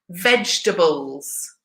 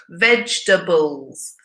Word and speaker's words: vegetables: guys practice your pronunciation say it with me vegetables vegetables three syllables vegetables and the last one